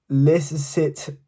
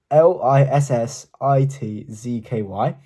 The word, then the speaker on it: Lissitzky: The artist is called Lissitsky. It's Lissitzky.